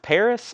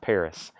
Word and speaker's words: PVRIS: I've only got one scorpions there I don't know a lot about this band it's I guess pronounced Paris but it's pvris all we